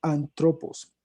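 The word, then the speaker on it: ἄνθρωπος: Un término que está usando él en griego se pronuncia antropos.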